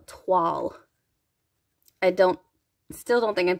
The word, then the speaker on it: toile: This is called Toile. I still don't think I'm saying that right, but it's Toile. It's like T-W-A umlaut L, like Toile.